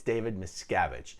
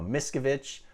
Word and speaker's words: Miscavige: troll scientology don't know the right way to pronounce david miscavige's name it's david miscavige people go miscovich there's a million ways to mispronounce it it's